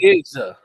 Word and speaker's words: Nicieza: Nicieza.